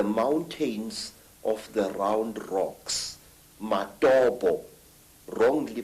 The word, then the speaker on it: Matobo: And one of these parts of Africa, sir, is a remarkable place called the Mountains of the Round Rocks, Matobo, wrongly pronounced Matopo, in Zimbabwe.